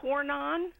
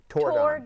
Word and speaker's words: Tordon: And do It is not torn on. Tordon.